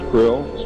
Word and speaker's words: Krlll: his name and title was his omnipotent highness Krill pronounced Krill spelled KR l l l or c r